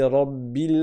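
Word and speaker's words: ربِّ: Ici l'erreur la plus souvent qui a lieu le plus souvent c'est que le B soit transformé en un p ou bien en une lettre qui est entre le B et le P.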